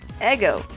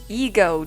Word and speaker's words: Ego: And before a lot of you go again in the comments and say, oh no, it's Ego, dude. It's E-G-O. No, it's Eggo-sama. Eggo. That's how you pronounce it in Japanese, and that's how I'll pronounce it here.